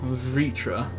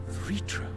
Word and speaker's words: Vritra: remember that you don't the way it's spelled does not suggest that at all vritra vritra all right so hold on